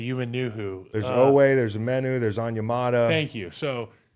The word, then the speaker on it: Omenihu: Omenihu. Omenihu. Thank you. Omenihu. I was gonna say Umenihu. There's Owe, there's Omenihu, there's Onyemata.